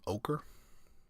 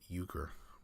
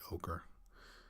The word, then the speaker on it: ochre: Maybe you spell it. Maybe you say euchre. Probably not. It's probably ochre.